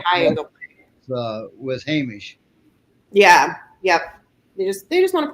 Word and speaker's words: Hamish: How do you pronounce that? You gave it to him. Hamish.